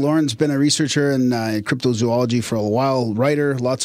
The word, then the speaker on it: cryptozoology: Because the way I say it like that, apparently that's wrong. We've been told that's wrong and it should be cryptozoology.